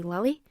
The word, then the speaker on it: Lilius: It's spelled like Lilius, but I've also seen people say Lily, but I'm just going to say Lily.